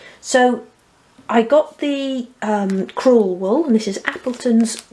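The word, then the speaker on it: crewel: Appleton's cruel wool and Cru spelled c r e w e l and I'm just saying that because I I'm probably not pronouncing it correctly so it sounds like cruel as in meane but it is cruel W and I bought the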